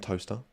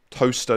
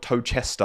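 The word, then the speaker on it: Towcester: Toaster. Toaster. Not Toester. I used to think it was pr pronounced Tochester.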